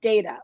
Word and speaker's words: Data: she mispronounces his name and he just says, no, it's Data, right?